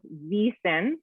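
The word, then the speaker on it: Wyssen: And it is VEASAN. W is pronounced like a V in Swiss.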